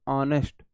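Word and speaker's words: honest: ऑनेस्ट का पहला word आप प्रोनाउंस करोगे अ बोलोगे ऑनेस्ट एन तो ठीक आया है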